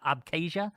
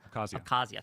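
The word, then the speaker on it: Abkhazia: They put and they took an interine conflict that was in South Oessa and um I can't pronounce oh abcasia Kazia.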